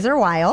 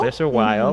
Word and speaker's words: Glaser Weil: law firms like, let's pronounce these correctly, like Glaser Weil. Is that how you pronounce it? Glaser Weil. Glaser Weil.